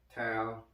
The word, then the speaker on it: Tau: Tao, you should see the content on there. It's spelled T-A-U.